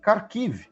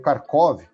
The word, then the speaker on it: Kharkiv: Na região de Kharkiv, né? Ou Kharkov, na pronúncia russa.